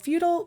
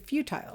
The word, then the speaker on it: futile: to engage in what's called feudal persistence some people pronounce it futile futile persistence whichever way you want to pronounce it what it describes